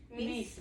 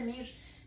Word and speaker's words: Mrs.: Miss. Pero yo puse MIRS. Es miss. Como la R es como que no estuviera ahí.